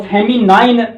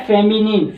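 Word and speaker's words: feminine: Masculine ये होता है मैस्कुलिन, और फेमिनाइन जैसे मैंने देखा है देहात के बच्चे, बहुत सारे शहर के बच्चे भी रॉन्ग प्रोनाउंस कर लेते हैं, लेकिन ये होता है फेमिनिन, फेमिनिन।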